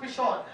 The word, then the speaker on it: Pishon: और पहले धारा का नाम पिशोन है, It's pronounced Pishon.